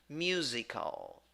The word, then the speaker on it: musical: And first syllable, you, mew. Second syllable, the word is written with S, but the pronunciation is with Z. All right. And in the second syllable, you have I, which is e, e. Yeah, tiny little I, e. And in the second syllable, you have schwa. In the third syllable, sorry, pronunciation, musical, musical.